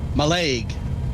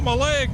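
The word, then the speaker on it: Mailleg: quite exciting Shelby yeah how do you pronounce m-a-i-l-l-e-g my leg my leg like like oh my leg my leg it's like that because when we visited last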